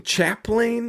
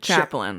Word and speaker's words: chaplain: Team chaplain. Is that how you say it? Chaplain.